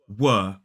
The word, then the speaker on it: were: word what uh that's the strong form now we tend to use strong forms when we really want to stress it or when we sort of say the word on its own were now the weak form is much more common in everyday speech in natural speech and it is W so it's the W and aw w w we were walking